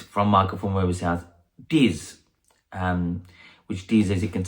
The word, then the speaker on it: Diz: Diz, which Diz, as you can see, is spelled DZ.